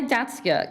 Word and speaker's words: Datsyuk: Lori Datsyuk, is that how you pronounce the name? I may have got that incorrect. Datsyuk, okay.